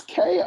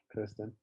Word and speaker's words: Kirsten: It's Kirsten, so I feel like that's Kirsten, not Kristen. Have I been saying it wrong this whole time? I feel like if it was Kristen, it would be Kri, not Kir.